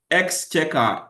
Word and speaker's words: Exchequer: Exchequer. Exchequer is spelled EXCHEQUAR.